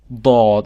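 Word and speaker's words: ضاد: No, it's called Dad. Dad. It's a heavy, very heavy D.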